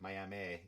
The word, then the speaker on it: Miami: And it was Miami, they pronounce it, Miami, Native American, big Native American community in Oklahoma.